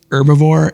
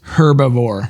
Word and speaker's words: herbivore: do want to say I think you mispronounce herbivore it looks like it's herbivore oh you pro thank you yes the H is not silent Cool Whip Cool Whip